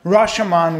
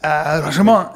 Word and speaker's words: Rashomon: Rashomon with Akira Kurosawa. I'm sorry, it's pronounced Akira Kurosawa and Rashomon.